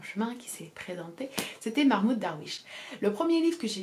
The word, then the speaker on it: Mahmoud Darwich: cet auteur s'appelle mahmoud darwich s'ils essaient de prononcer correctement mahmoud darwish et au programme de l'agrégation cette année ce